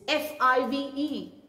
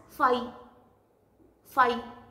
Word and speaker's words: five: say this number as fi phi which is absolutely wrong it is f-i-v-e the v-letter sound should be heard prominently so it is five okay you need to